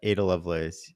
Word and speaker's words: Ada Lovelace: I want to come next to Ada Lovelace.